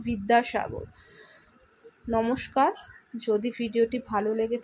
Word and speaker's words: বিদ্যাসাগর: এবং যে বর্গীয় ব রয়েছে, সংস্কৃতে বর্গীয় বয়ের উচ্চারণ বি এবং অন্তস্থ বয়ের উচ্চারণ ভি। সংস্কৃত অনুযায়ী আমরা বিদ্যাসাগর এবং বিবেকানন্দ বি দিয়ে স্টার্ট না করে ভি দিয়ে স্টার্ট করি, ওই জন্য বলি বিদ্যাসাগর।